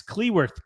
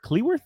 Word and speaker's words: Cleworth: as they beat exitor City 3 n Max korth cleworth is how you say that gets a header